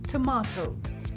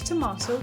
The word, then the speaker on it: tomato: British English, pronounced with an R sound like in father, so it's tomato.